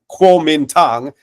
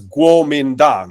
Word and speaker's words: Kuomintang: transliterations of, you know, what some people, Westerners, will say Kuomintang and some will pronounce as Kuomintang. It's a very small difference, but the acronym is